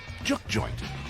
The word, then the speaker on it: juke joint: I guess the first thing you got to know is it's pronounced juke joint.